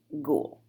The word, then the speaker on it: Gol: We have a word in my language, I say, ghoul, and that's spelled G-O-L. What do you think that word means in Keck's language? Ghoul.